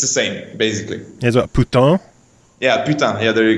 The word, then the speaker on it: putain: like it's it's the same basically here what puton yeah puton yeah there you go puton there